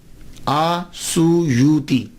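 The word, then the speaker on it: السيوطي: کے نام کے ساتھ۔ ایک ہے السیوطی، آسویوتی، الف کے اوپر زبر، شروع میں الف ہے، السیوطی، ابن القطب اور الشاذلی،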